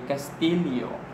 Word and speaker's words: Castillo: So in Spanish, in Latin America, it is pronounced as Y. In Castilian, it is pronounced as LLI. Kaya nga dito sa Pilipinas, kasi the Spanish that we spoke here was basically Castilian. And that is why we say Castillo.